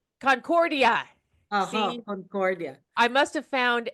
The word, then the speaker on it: Concordia: Actually, it's Concordia. Concordia.